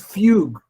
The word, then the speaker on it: Fugue: There's a library called Fugue. I'm pronouncing it right. It's like the instrument.